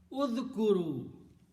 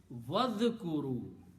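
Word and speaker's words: واذكروا: Then what you do, you put a waw in the beginning, which means you put an and you don't pronounce this alif, so make this hamzatul wasl. Pronunciation will be vadhkuru, and remember.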